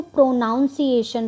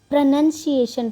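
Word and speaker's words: pronunciation: मतलब होता है उच्चारण अब इसमें ज्यादातर बच्चे क्या मिस्टेक करते हैं कि इसको प्रोनाउंस एशन पढ़ते हैं इसको प्रोनाउंस एशन नहीं पढ़ना है इसको प्रोनंसिएशन पढ़ते हैं ठीक है तो जो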